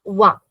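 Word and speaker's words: vingt: And 20 is VIN. VIN tak hi pronounce karenge. We'll just pronounce it until there. VIN.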